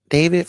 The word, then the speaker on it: D4vd: So, David, but it's spelled like different. It's like D4 VD.